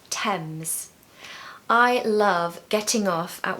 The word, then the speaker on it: Thames: four is the River Thames the River Thames the River Thames now I hear people saying Thames and tames but actually the H is silent so it's Thames I love getting off